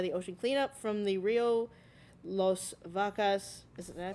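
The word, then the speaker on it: Río Las Vacas: plastic collected by the ocean cleanup from the Rio Los Vacas. Did I pronounce that right? In Guatemala. Rio Los Vacas.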